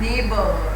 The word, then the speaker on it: neighbor: The person who lives your house, near your house, is known as neighbor, right? And neighbor also don't have GH sound. It is silent here.